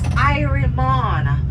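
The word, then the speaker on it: irie mon: It is spelled Y-E-A-H-M-O-N. Yaman, that means yes. If you're feeling good, it's Irimon.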